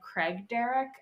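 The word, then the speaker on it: Craigdarroch: There's a castle in Victoria called Craig Derrick. At least I think that's how you say it. Spelled like the name Craig and then Darroch.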